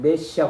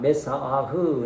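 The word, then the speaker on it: מָשִׁיחַ: 히브리어로 뭡니까 메시아 메시아이 우리는 메시아 그러지만 메사 아흐 이제 이렇게 어 이렇게 이제 발음이 좀 다르긴해도 메시아요 그러면 신약 헬라는이 기름부음을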